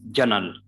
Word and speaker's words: journal: And again, you can see this one, it is journal. Journal. It is journal. It's not journal. Obviously, you can see that R is before a consonant and we are not pronouncing R.